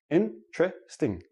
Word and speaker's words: interesting: Interesting. Interesting. I have 4 syllables. When I actually say it naturally, it becomes 3 syllables, and the T and the R become like a CH, but we'll talk about that next.